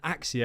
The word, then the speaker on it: Accio: as Incendio, Descendo, Petrificus Totalis, Avada Kedavra and Axio, I'm going to pronounce it that way because that's what Stephen